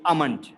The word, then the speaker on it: almond: the morning it's almond so l is i would say silent and giving like a bit of slight h sound so it is almond almond it's not almond it's almond almond yeah and let's move